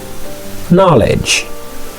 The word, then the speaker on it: knowledge: Lettre K ça, s'il pas devant N, non, t'as obligé de dire now. Alright? Alors que vraie prononciation ça, c'est no. Ok, let's go. No. Knowledge.